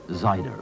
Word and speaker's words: cider: that west country tipple cider pronounced of course zida or scrumpy a couple